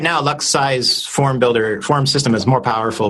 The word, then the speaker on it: LuxSci: Okay, so I'm a big fan of Luxi. Okay, spell that one.